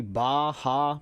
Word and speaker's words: Barra: I go to a Gracie Baha, but it's spelled Barra just because of how their letters work.